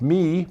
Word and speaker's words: MIIIW: fully understand how m i i w is pronounced me but that's what the company tells me so